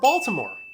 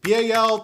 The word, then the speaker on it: Baltimore: So again, it's B-A-L-T-I-M-O-R-E, all right, Baltimore. But you will hear it pronounced two different ways aside from that. You will hear it Balmer, B-A-L-M-E-R, or you'll hear it Baltimore, okay?